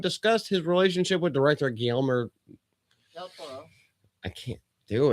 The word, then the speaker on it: Guillermo: Yeah, it's Guillermo. Yeah, Guillermo.